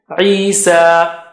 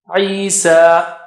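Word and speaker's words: عيسى: Similarly, Isa, Isa.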